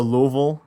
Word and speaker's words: Louisville: very far south like near Louisville or Louisville I've just learned that that's how you say it so we've warmed up